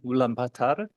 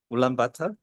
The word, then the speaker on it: Ulaanbaatar: There are some Mongolian pronunciation, so I need some Miss Ulaanbaatar. 4 words you can remember. First one, Ulaanbaatar, and second one, Haruhorum.